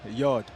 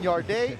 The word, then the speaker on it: Yarde: get that microphone up how do you say your name the proper way yard yard I apologize for saying yard day I'm look look at